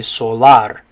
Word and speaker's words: solar: should say solar okay now the a and the letter a is the part that makes a different sound though in spanish so in english we say solar but in spanish the a makes an ah sound so you're gonna say